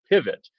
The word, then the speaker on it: Pyvott: He is also a part of a new social media platform called Pivot that is spelled P-Y-V-O-T-T.